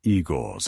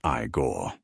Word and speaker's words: Igor: Noticing Igor's eyes. You must be Igore. Igor. No, it's pronounced Igore.